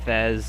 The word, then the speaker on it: FES: is Persona 3 uh how do you pronounce it Fez or FES I don't know but it's Fez stands for festival all right uh I